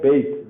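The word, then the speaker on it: ב: Whenever you look at this, it looks like Beit, the B. But when there is no dot, what is the sound? It is V. Okay? Only if there is dot, it is B.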